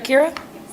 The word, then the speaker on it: Kira: um I will ask Kira to come up here to this Podium did I say it right Kira perfect welcome um is this working